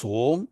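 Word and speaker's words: ॐ: om is derived linguistically composing of two letters I mean three letters akar ukar and Makara and from the way you pronounce this combination of these three letters it becomes home so we will see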